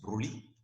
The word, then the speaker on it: Broglie: En 1924, Louis de Broglie, s'écrit Broglie, se prononce Broglie, propose de généraliser la dualité pour la lumière à toutes les particules microscopiques, électrons, protons, neutrons.